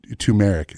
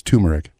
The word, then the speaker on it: turmeric: Tumeric. It's turmeric.